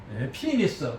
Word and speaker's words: penis: 없고, 그래서 여기서 이 피니스, 그 다음에 나오는 피니스는 우리가 페니스 하지만 영어 발음은 피니스입니다. 앞에 액센트 있고 장모음은 액센트 오니까.